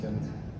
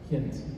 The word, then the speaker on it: Ghent: Yeah, I'm Canadian, and it makes me upset when I was pronouncing it like, I was pronouncing the American pronunciation. It's Ghent.